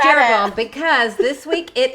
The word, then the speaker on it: Jeroboam: Like you're going to know last how to pronounce them. We learned Jehoboam and Rehoboam. Jeroboam.